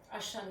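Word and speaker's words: עשן: So if we break down the words of Ashan, in Hebrew it's spelled ayin, that's the A sound, shin, the sh sound, and nun is the n sound, Ashan.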